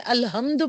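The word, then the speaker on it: الحمد: अल्ह हम कैसे पढ़ना? अल्हम्दु पढ़ना है।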